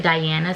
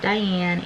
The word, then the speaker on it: Diana: It's spelled like Diana, so it's D-I-A-N-A, but I pronounce it Diana because I am Spanish, and that is how my name was pronounced.